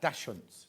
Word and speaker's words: Dachshund: Dachshunds.